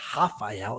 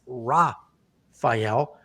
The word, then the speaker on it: Rafael: Rafael Fiziev, I always do the Brazilian pronunciation of these names, but he's not Brazilian, so it's not Rafael, it's Rafael. This will be a fantastic fight.